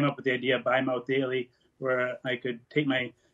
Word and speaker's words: Bi-Mouth Daily: And I came up with the idea of Bi-Mouth Daily, where I could take my pill by mouth live daily, but it's spelled B-I, so you could hear from a bisexual mouth on the daily as well.